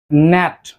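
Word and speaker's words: gnat: ন্যাট।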